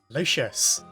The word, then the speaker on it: Lucius: Lucius. Notice how I finally corrected my pronunciation of his name, by the way.